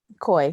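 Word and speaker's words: Coi: Is that her name Koi or Corey? Koi. Koi fish? Like koi fish. Koi like koi fish, but spelled with a C instead of a K.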